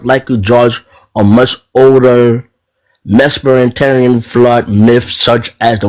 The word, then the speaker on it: Mesopotamia: I just see it as a myth from I cannot pronounce this word. Mesopotamia.